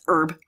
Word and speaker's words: Herb: well, you know, if it's Herb, if you live in London, because they pronounce their fucking H's. Mm-hmm. But if you live in America, it's Herb.